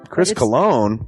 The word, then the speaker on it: Cologne: It is a self-published book by Christopher Cologne. Chris Cologne smells good to me. But Look at her. That broke that fucking cold little exterior. He's like, hee. but it is spelled C-O-L-O-N.